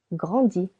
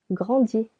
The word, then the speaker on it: grandis: Je grandis. Silent S. Tu grandis.